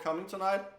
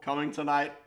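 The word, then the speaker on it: Cummingtonite: Okay, so there's an actual mineral called Coming Tonight, which sounds like you're coming tonight. Yes. It's an actual it's spelled differently because it's named after someone called Cummington.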